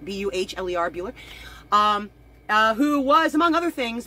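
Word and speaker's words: Buhler: screenplay actually done by a man named Jeff Buehler, if I'm pronouncing it right, B-U-H-L-E-R, Buehler, who was, among other things, was one of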